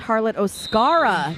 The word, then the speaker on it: Harlot Oscara: I believe Harlot is pronounced Harlot Oscara, not Scar.